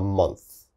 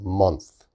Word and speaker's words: month: okay so a month a little bit difficult to pronounce a month a month your tongue has to